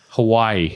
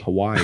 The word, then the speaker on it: Hawaii: a tan before your Hawaiian trip yeah yeah Hawaii Hawaii it's how it's said why I like the